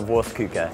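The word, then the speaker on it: Wurstküche: work so Stephen Andrew well welcome to vuka today we're going to oh that's how you pronounce vuka my cousin and I opened this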